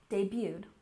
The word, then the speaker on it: debuted: used in American English you don't say the T debuted which means to be